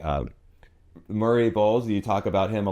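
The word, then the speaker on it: Murray Bowles: And it kind of reminds me like uh Murray BS, you talk about him a lot. Yeah. Right. Is that that's how you say his name? Murray Bulls.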